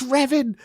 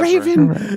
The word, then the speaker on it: Revan: They say it's Revan, not Raven Revan.